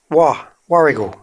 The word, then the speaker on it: Warragul: So it's Warragul. Warragul. Warragul. Warragul. No chance of mispronouncing the launch this week in New South Wales, in the town of Woy Woy.